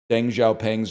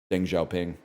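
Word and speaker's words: Deng Xiaoping: And I was like, I pronounced Deng Xiao Pang's name wrong. And like all the other kids in the class, I say other kids as if I was a kid. I was the teacher. All the kids in the class laughed at me. And I was like, "Why are you laughing?" And they're like, "It's pronounced Ding Xiao Ping."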